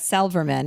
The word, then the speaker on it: Silverman: As Sarah Silverman said, Silverman is how she likes to pronounce her last name.